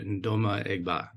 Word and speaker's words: Ndoma-Egba: which he is a life member welcome Dr nma egba Dr Sue your pronunciation hasent you a tit among my because